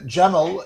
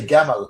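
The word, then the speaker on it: جمل: Uh though I believe the modern pronunciation is more like gaml. Uh honey, you'll you'll pronounce it much better than I will. Yeah. Uh jaml in classical Arabic in Egyptian in in in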